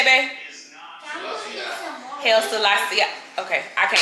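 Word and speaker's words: Haile Selassie: Hail Selassie.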